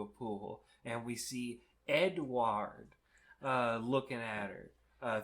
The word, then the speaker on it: Édouard: Well, it is just pronounced Edward, but uh Cass uh Edward gets some lore dump.